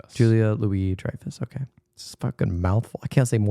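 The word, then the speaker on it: Julia Louis-Dreyfus: Julia Julia Louie Drifus. Julia Louie Drifus.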